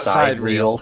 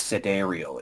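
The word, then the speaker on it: sidereal: thing yeah and and that's that's how you pronounce that by the way it's not side real it's today i've actually i've actually heard the developers say sidereel and it's like no it's cedar real it's it's a greek yeah yeah so that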